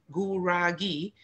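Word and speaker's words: Gurage: And the Guragi, that's spelled, it looks like garage, but it's actually G-U-R-A-G-E, Guragi.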